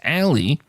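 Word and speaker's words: aalii: the uncommon word uh I believe the pronunciation here is Ali a a l i i please don't ask me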